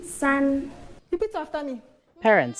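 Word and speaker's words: 三: How do you pronounce 2? And 3? San.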